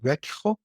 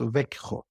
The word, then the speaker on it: Växjö: So we are located southern part of Sweden, the town or the city called Växjö. Can you spell that, please?